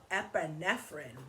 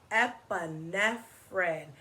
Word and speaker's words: epinephrine: Let's clap it out in syllables. So when you do syllables, you clap for every sound of the word. So here we go. Epinephrine. Epinephrine. Epinephrine. 4 syllables in the word epinephrine.